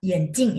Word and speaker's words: 眼镜: 眼镜 ya, kacamata. Bacanya masih benar ya. Kalau bacanya salah nada, jadi mata.